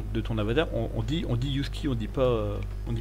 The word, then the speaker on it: Yhusky: Yuski, ça s'écrit YHUSKI, parce que c'est comme le chien, mais avec un Y devant.